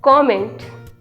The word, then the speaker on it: comment: The right pronunciation is कमेंट.